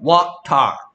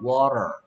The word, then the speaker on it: water: 근데 미국 사람들은 트 발음을 리을처럼 힘 빼서 발음하는 경향이 있어. 힘을 빼서 그래. 원래는 water 이렇게 해야 돼. 근데 힘을 빼면 water 이렇게 되거든요.